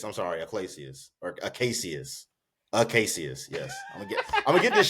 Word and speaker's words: Acacius: Acacius. That's Paul. Yeah, Acadius is the general. Okay. Aclacius, I'm sorry, Aclacius or Acacius. Acacius, yes.